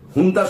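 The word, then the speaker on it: junta: ও ঝুন্তা বাহিনীকে যেমন করছে, হুন্তা বাহিনীকে লেখা হয় ঝুন্তা, কিন্তু উচ্চারণটা করে হচ্ছে হুন্তা।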